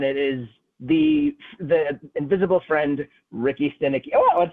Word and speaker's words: Ricky Stanicky: Ricky Stanicky.